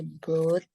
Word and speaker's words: brought: Ya, bacanya GH-nya nggak dibaca ya. Broad. Broad. Broad. Broad. Ya. Broad. They broad. Mm-mm. They brought.